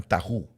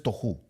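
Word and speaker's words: תֹּהוּ: es la palabra toju algunos pronuncian tahu Pero es tohu en hebreo le dicen tohu dice tohu y la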